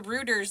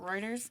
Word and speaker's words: Reuters: related to like the rooters like the because it's spelled the same like the news organization rooters news Reuters I don't know is it Reuters yeah Reuters that's how I understand they pronounce it oh okay he married